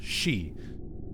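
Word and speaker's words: 四: the number four is considered very unlucky the pronunciation for it can be said as she which is also a word meaning death so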